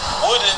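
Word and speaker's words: Woden: Another town they're actually saying that is active sundown still to this day is Woodin, Texas. It's spelled W-O-D-E-N.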